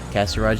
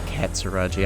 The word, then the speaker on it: Katsuraji: Kasaraji, you drop the T. It's actually Katsuraji. I don't know how it's spelled exactly, but there's a T in there somewhere.